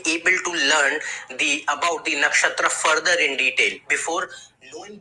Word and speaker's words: nakshatra: This is how we pronounce the name. Maga. Maga. Maga. Nigga. Maga. Maga. I said nakshatra.